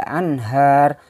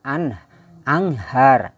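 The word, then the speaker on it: أنهار: Nah, kemudian ini tahtihal anhar, tahtihal anhar. Membaca nun mati menghadapi ha, juga ha ini termasuk huruf izhar. Jadi membacanya anhar, jangan anghar, anghar, salah. Jadi nunnya jelas berbunyi an, anhar, tahtihal anhar.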